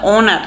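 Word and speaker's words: honour: অনার তার মানে কি ও অথচ সামনে এই আছে কিন্তু উচ্চারণ হচ্ছে অনার তার মানে এই এখানে সাইলেন্ট এই যেহেতু সাইলেন্ট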